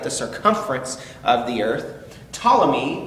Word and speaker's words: Ptolemy: circumference of the earth ptolemy which you can see is spelled p-t-o-l-e-m-y um ptolemy was the